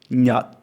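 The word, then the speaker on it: Nhật: And you place your tongue in the correct final position, but you don't pronounce the sound. So remember the duck, stuck, tuck, and that stuck, da sound. Use that as the final sound, but don't pronounce it.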